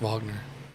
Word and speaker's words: Wagner: Wagner but it's pronounced Vagner it's pronounced German for some reason no no just Vagner